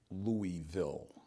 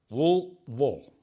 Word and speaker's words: Louisville: So, it is not a 3-syllable word. Don't get caught saying the word Louisville. It's 2 syllables. Louisville.